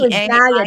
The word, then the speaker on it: Gaia: It's G. Gaia, just like the Earth, Gaia. Gaia. Okay. So, talk to us about the Gaia method because you go into great detail about that. Okay. So, Gaia is an acronym that